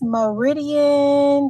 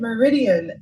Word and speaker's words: Meridian: Okay, so tell me, we have Miss Meridian. Did I say her name right? Yes, you did. Meridian.